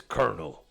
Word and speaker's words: colonel: telling you about col Colonel I never understood why it's like why it's spelled colonal but the pronunciation is Kernel it's like it's instead of an L there is an R there I never understood that